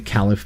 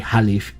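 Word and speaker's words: caliph: in parenthesis the khalif I've been saying the califf but actually in it would be khalif if you use actually pronounce it correctly let's see I've heard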